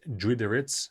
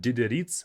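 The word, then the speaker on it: Дидериц: The porter pronounced it as Drideritz, not Dideritz, but Dr. Instead of Dideritz, which is pretty simple, he said Drideritz. It's a bit different.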